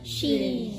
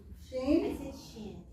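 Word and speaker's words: שׁ: How do you pronounce that? Sheen. Sheen. Sheen I said shin.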